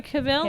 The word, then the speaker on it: Cavill: Henry Cavill. Henry Cavill. Cavill. With his Cavill. That's how you Henry pronounce his Cavill.